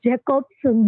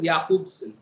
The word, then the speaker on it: Jakobson: Sir, we usually pronounce Jacobson. That's why it's confused. Okay. He actually his name is pronounced as Jakobson, right?